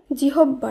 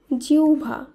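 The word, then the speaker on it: জিহ্বা: রশ্মি হয় বয় আকার জিহব্বা নয় এর শুদ্ধ উচ্চারণ হবে জিউভা জিউভা এরপরে যে শব্দটি রয়েছে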